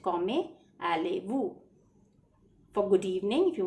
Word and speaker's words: allez-vous: Z is not pronounced. It's silent. Comment allez-vous.